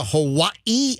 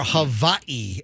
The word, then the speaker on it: Hawaii: all right but listen the proper way to actually say it's it's either Hawaii or Havi or the actual real pronunciations I know it's